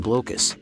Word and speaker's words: Blokus: Players in the abstract strategy game Blokus, officially pronounced Blokus, attempt to place colored, transparent Tetris-shaped pieces onto the board.